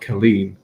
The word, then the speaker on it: Colleen: on all the covers, she's called Colleen, but it's with a C. And obviously, because I live in Ireland, that would be a hard C. But then other people call her Celine as well, which I'm like, that's not right.